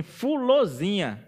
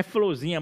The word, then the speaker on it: Fulozinha: A comadre Florzinha, que na verdade tem que ser pronunciada assim, Fulozinha, né? Não é Florzinha, mas é Fulozinha também, né?